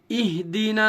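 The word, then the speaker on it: اهدنا: اہدنا الصراط المستقیم. ہجے کریں گے. حمزہ حاضر اہ، ہا کے اوپر یہ دیکھیے جزم ہے، جزم والے حرف کو پیچھے والے حرف سے ملایا جاتا ہے.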